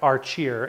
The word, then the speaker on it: Archeer: this I'm going to contact our cheer and I did verify that is how you say it I'm going to contact arch here and I'm gonna let